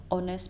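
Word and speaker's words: honest: इसके अगर नेक्स्ट rule पे अगर हम जाएंगे तो वो है वर्ड स्टार्टिंग विद एच, जिसके अंदर एच साइलेंट होता है. इसके एग्जांपल क्या है? Are, honourable, ऑनेस्ट person.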